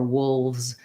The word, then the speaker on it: wolves: And then when you want to just say moves or wolves by itself, what I would do is first say moves it, then get more quiet on the it, moves it, and then think the it in your mind so your mouth will still do what it's been doing, moves, and just think it, and you might find